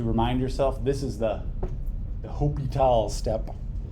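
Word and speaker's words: L'Hôpital: Write a little H on the equal sign to remind yourself this is the L'Hopital step. The H is silent.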